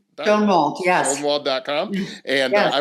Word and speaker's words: Schonwald: Am I pronouncing this right? Denise Schonwald? Schonwald, yes.